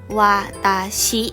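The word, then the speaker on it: わたし: นะ คะ พี่ สาว ตัว ฉัน อ่าน ว่า Watashi นะ คะ ว่า ตา ชิ้น ถัด ไป น้อง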